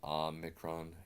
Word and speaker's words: Omicron: pronounce it regularly and we're gonna pronounce the O mega as an O and the Omni kron has an O so now we've we've